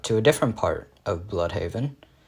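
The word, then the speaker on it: Blüdhaven: a different part of bloodhaven i actually think it's pronounced bloodhaven uh because of the double dots above the u but um uh he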